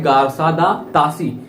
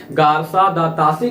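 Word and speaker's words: Garcin de Tassy: विद्वान का जन्म होता है जिनका नाम है गारसा दा तासी। फिर से उच्चारण करना भी जरूरी है क्योंकि नाम थोड़ा सा टफ है। गारसा दा तासी का जन्म होता है जिन्होंने हिंदी साहित्य के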